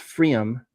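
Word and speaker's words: Pfriem: They're called um Freom. It's P F R I E M I think but it's pronounced Freom.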